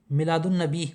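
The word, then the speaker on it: میلاد النبی: अगला है, मिलादुन नबी में कौन सा हुरूफ खामोश साइलेंट है? इसमें अलिफ लाम है वो साइलेंट रहेगा।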